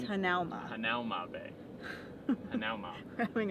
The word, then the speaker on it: Hanauma: Kevin keeps saying Hanomu. I do not. You say moo. Hanamu. It's not Hanamu. It's Hanauma. Hanauma Bay. Hanauma. We're having a hard time. Hanauma.